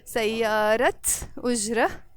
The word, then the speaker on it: سيارة أجرة: So whenever you have in Arabic noun plus noun, you start pronouncing this t sound in the end. So the word سيارة alone, but سيارة أجرة with a t when it's followed by the word أجرة.